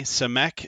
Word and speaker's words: Samek: jack and i'm here with our guest today cemek is that how you say it is that